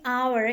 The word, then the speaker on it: hour: Nah, di sini hour, ingat meskipun ini adalah konsonan, tapi di sini kita membacanya dengan vocal sound.